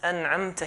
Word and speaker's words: أنعمت: We have to make sure that when we pronounce أنعمت here, the hamza has to be pronounced.